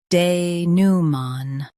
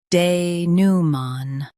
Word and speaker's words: denouement: Both US and UK have the same pronunciation of this word, denouement. Now read the syllables shown on the screen naturally. De, new, man, denouement. Stress new and keep man soft.